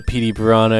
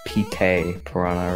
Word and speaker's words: Petey Piranha: I've heard some people pronounce Petey Piranha as Pete Piranha or Pete Piranha. I always took it as Petey Piranha, unless there's some dialect I'm not aware of, which in that